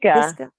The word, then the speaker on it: Pisgah: How do you pronounce it? Pisgah.